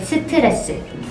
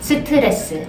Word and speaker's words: 스트레스: This is an English word because we don't say stress. We say 스트레스. 스트레스. I know, exhale like 3 times. 스트레스. One more time, say them out loud please. 스트레스.